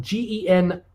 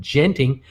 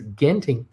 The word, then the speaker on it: Genting: for you today a company called genting spelled g-e-n-t-i-n-g i used to pronounce it genting but uh the people tell me officially you say it's genting genting uh owns um it's a company that's